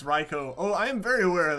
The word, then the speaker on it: Raikou: what system I can play everything on Japanese pronunciation says it's Reiko oh I'm very aware of that one that's why I do say raikou it's all the you is doing is extending